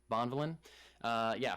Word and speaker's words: Bonvillain: I don't know how to say that last name. It sounds like Bond Villain. I'm pretty sure you said it right. That sounded like a proper last name. Bonvillain.